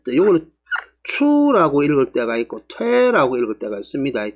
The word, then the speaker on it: 推: 또한 어떤 장소를 옮기다 아니면 어떤 상황이 변천하다 할 때도 추라고 했지만은, 물리적으로 문을 밀고 사람을 밀고 할 때는 퇴라고 했습니다. 퇴라고 읽으니까 여기서는 퇴라고 읽는 게 맞습니다.